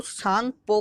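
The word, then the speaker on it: Tsangpo: कहते हुए है तो चाइना में इस रीढ़ को सांगपो कहा जाता है अत इसमें साइलेंट है सांग पर डांस करते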